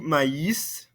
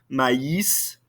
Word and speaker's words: maïs: Du maïs. Notice how we pronounce this ending consonant. This is one of those very few exceptions. Répétez-moi, s'il vous plaît. Du maïs.